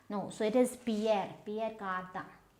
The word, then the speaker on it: Pierre Cardin: So it's not Pierre Cardin. Pierre Cardin, no, it is Pierre Cardin.